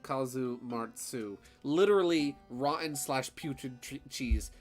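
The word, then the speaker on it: casu marzu: cheese it's gross um kasumatsu Sardinian pronunciation Kazu martzu literally rotten slash putrid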